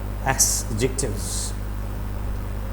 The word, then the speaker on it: adjectives: Whenever D comes in between or between A and J, so the sound of D is turned down.